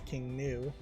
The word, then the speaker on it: King Gnu: It's probably not King GNU. GNU is a computer programming way of pronouncing that. This is probably just new, is pronounced in a Western tongue, probably just as King New.